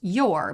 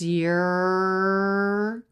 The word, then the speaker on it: your: how the word your is not pronounced your but it's reduced it's your the vowel changes to